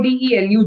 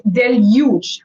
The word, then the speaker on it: deluge: I don't know okay so this is not delu it's Deluge I want to hear the alphabet you it's Deluge Deluge means Deluge is normally